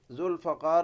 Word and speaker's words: ذوالفقار: اور ذوالفقار نام کی تلوار حضرت علی کرم اللہ وجہہ کے پاس موجود تھی، جس کا جواب دیں۔ ذوالفقار میں صحیح تلفظ فا کے زبر کے ساتھ ہے، اور یہ ایک تلوار